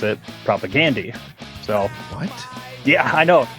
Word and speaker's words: Propagandhi: debate, but uh I think us Americans always pronounce it as propagandhi with the emphasis on the Gandhi part, but I've heard on podcasts that uh they actually the band members themselves pronounce it propagandi.